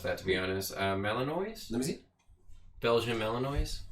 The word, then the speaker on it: Malinois: Malinois? Let me see. Belgian Malinois? Yeah, so they had those dogs since birth. Oh, yeah, you said it right. Belgian Malinois.